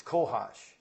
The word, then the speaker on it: cohosh: It's cohosh, I believe the pronunciation is.